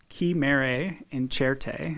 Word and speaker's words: Chimere Incerte: so the the exhibit coming in is called ki mare in cherte and that means on certain chimeras it's an